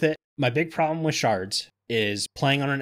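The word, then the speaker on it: sherds: it my fix for the shards I'm saying shards because I found out even though it's spelled shirts yeah it's still pronounced shards I saw a lot of people calling it shirts and videos and go yes the name changed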